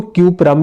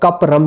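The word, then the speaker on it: cuprum: इसको क्यूपरम भी पढ़ते हैं और कपरम भी इसको पढ़ा जाता है, इसकी जो प्रोनाउंसिएशन है क्यूपरम या कपरम, ठीक है।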